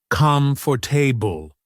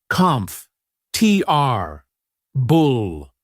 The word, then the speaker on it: comfortable: We don't say come for table. We shorten it. We say comf. T r bull. The or sound gets compressed.